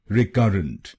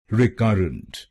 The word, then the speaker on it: recurrent: और ये ध्यान में रखिए कि हमको दूसरे शब्दांश पर यानी CURR पर जोर डालना है। रिकरेंट। रिकरेंट। गलत प्रोनाउंसिएशन में हम पहले शब्दांश पे जोर डालते हैं, रेकरेंट या रिकरेंट। तो इसको रेकरेंट या रिकरेंट नहीं बोलिए, इसको बोलिए रिकरेंट।